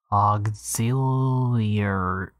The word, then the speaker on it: auxiliary: auxiliary auxiliary auxiliary auxiliary auxiliary axial your how many ugh auxiliary five syllables auxiliary auxiliary auxiliary auxiliary is